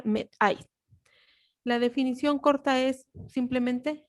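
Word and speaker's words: μέθη: Y se pronuncia metai.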